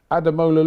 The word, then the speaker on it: Ademola: I said Just say Ademola. look. Just say look. Ademola. Ademola. Ademola. That's how you say it.